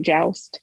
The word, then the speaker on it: JWST: am k hinton uh talking about joust did i did i say it right joust you did you did you did yes yes